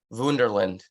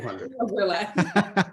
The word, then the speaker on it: Wunderland: being from Germany now is it Wonderland or do you say wunderland never say Wonderland that Mike yeah okay fair